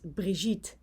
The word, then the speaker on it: Brigitte: it's requested by a dutch lady called brigitte earthing i hope i pronounce your name correctly because i think it's brihit but you can also pronounce it as brijit so excuse me if